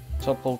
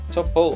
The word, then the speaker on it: Tuple: top all to list Tuple to list my top Hulk is equal to this is ah top hole okay Tuple or Tuple whatever way you want to pronounce it off to you oh I put my